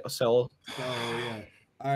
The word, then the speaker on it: Seoul: I didn't pronounce it right. No, he got it. He definitely did not. Okay. It's Seoul.